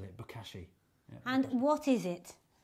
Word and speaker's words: Bokashi: Just the way you've already said it, Bokashi.